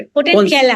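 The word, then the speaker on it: Potentilla: तो हम लोग एक सेंटेंस में कैसे बता सकते हैं व्हाट इज पोटेंशियल? पोटेंटिएला बोले या पोटेंशियला बोले? पोटेंटिएला, पोटेंटिएला Potentiella. इज the correct pronunciation.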